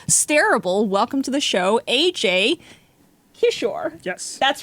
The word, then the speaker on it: Ajay Kishore: Welcome to the show, Ajay Kishore.